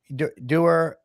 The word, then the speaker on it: Duer: And that's Hayden Dur, right? Am I pronouncing that right? from your Der um I love that Derer Okami Group and he's based in California.